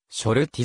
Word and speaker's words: Solti: 書かれるユダヤ系ハンガリー語の発音に基づく表記はショルティ 0 時グラミー賞